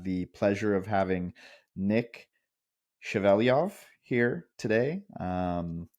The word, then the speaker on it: Shevelyov: pleasure of having Nick chaveliov here today um Nick did I say your last name correctly well pronounced Thank You I did my best